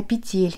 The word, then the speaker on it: петель: Все время путаю, как правильно говорить, петель или петель. И кто-то давно мне также в комментариях написал, чтобы не путаться, нужно делать ассоциацию со словом «земля». Петля – земля.